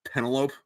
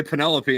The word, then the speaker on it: Penelope: in a minute um I thought Odysseus's wife's name was Penelope because that's how it's pronounced if you've never heard that word before and then yeah and then I heard someone else say Penelope and I was like